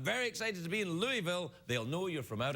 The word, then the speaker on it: Louisville: Chris in Louisville Kentucky now when you been pronouncing Louisville it's very important that you say Louisville cuz people it sounds like it be Louisville but if you go to Louisville and say hi everyone